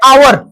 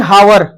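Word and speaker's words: hour: अब ये बता मेरे, आवर, बहुत जने पढ़े हावर, ये क्या है मेरे भाई, आवर। अब आवर जो अपने आप में है भैया, ये क्या है, एक सर यहाँ यच साइलेंट है, यच क्या है, साइलेंट है, तो आवर है, तो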